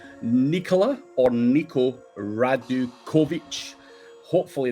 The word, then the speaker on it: Nikola: So, my name is Nicola and the surname is Radikovich. So, whoever else is listening now, he knows how to pronounce it.